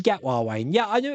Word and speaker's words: Gatwa: Pronounced Shooty Gatwa, Wayne.